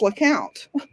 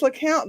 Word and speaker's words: Lecompte: And the sign painter misspelled it and put the P in there. Because of course he did. Exactly. But that's not even why it's pronounced LeCount. It is pronounced LeCount because the family who